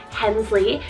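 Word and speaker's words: Henslie: Similar to Harley, we have Hensley, spelled H-E-N-S-L-I-E, Hensley, and this one means highest meadow.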